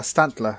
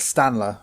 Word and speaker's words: Stantler: when I was younger one of the Pokemon I used to pronounce wrong he was Stantler I used to call it Stanley because I didn't see the other T it's a deer it's